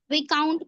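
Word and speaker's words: viscount: बोर्गई क्या है ये पता नहीं हां बोगई साइलेंट हो जाएगा विकाउंट पढ़ेंगे इसको विाउंट नहीं विकाउंट पढ़ेंगे इसको क्या करेंगे?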